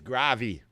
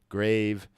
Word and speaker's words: grave: ve like have love we don't say the E on there we just say great love grave have The View we